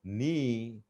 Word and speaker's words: knee: say digestion digestion suggestion knee but we can't say K is not pronounced now schedule or some